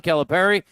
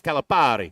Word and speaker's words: Calipari: Well, I think if you do it Italian, it's Calipari.